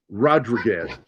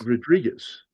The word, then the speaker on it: Rodriguez: Do you know how my dad said that? Anybody want to take a guess any of you two? Rod Reguez? I'm pretty sure he butchered it. Rodrigwaz. That's how my dad would say it Rodrigwaz. Rodrigwaz. And I'm like Oh I was close. Rodriguez. And he goes Rodrigwaz. I'm like stop saying it that way.